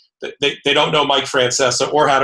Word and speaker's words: Francesa: and I being at different coasts so he pronounces his last name Francesa so for the for our viewers and listeners